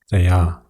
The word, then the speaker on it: Thea: It should be pronounced with a long A or with a stress on the 2nd syllable of the name, Thea.